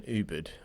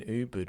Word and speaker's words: Ubud: we started off in Ubud, or how do the Americans say it? Ubud. Ubud, yeah. Ubud. Well, we're saying Ubud, right? That's like there's a U there. There's a U. Exactly.